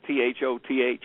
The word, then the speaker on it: Thoth: was um the supposed Atlantan priest king named Thoth. They also attributed Wait a minute. Spell spell that spell that name. Is it T H O T H?